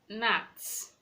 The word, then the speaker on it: gnats: We have no, no, Gnats, gnats. The G is silent. You're not to pronounce the letter G in that word.